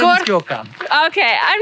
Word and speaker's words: Gökhan: Gorkan. Gökhan. My name is Gökhan. Okay, I'm not very good at pronouncing his name.